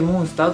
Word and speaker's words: 怪獣: 求めてよみがえる巨大モンスターと化しが綴るんですね怪獣と書いてモンスターと読むんですけどこれはシンプルに